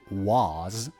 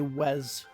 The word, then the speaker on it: was: see what he's got how do native speakers pronounce the word was well they don't say was they say was was we don't say was I've never heard anyone say Wes in my life I was going to